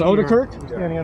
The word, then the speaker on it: Odekirk: It is Odekirk? Is that how it's pronounced? That's correct.